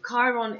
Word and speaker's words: Chiron: by charles cowai so chiron is pronounced it's here with a ch but it's k pronounced with a k and k is the